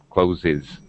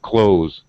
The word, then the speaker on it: clothes: Closes. We don't say closes because clothe is a voice sound. Clothes.